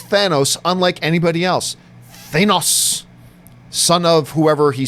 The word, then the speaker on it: Thanos: C much like nebula red skull pronounces the nose in Thanos like nos like in car but he also pronounces the thin kind of like stain not Stan he is burdened with knowledge